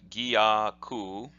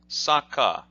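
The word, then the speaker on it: 逆: which is constriction now this character of gaku can be pronounced like that gyaku but it can also be pronounced as Sokka Sokka and later on in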